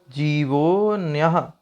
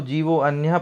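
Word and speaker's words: जीवोऽन्य: आइए उच्चारण करते हैं जीवो न्य जीवो न्य जीवो न्य कई लोग इसको जीवो अन्य पढ़ते हैं यह जो आपको उल्टा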